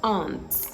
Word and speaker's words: aunt: phonemic transcription of words the phonemic transcription of this word shows it should be pronounced on right Aunt the same way you'd pronounce this oh they aren't coming are they now they